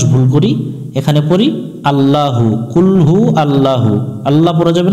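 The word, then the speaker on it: قل هو: কুল মানে হচ্ছে খাও এখানে একটু আমরা গলার মধ্য থেকে একটা আওয়াজ দিয়ে আমরা এই অক্ষরটা সুন্দর করে উচ্চারণ করব কুল হা পেশ হু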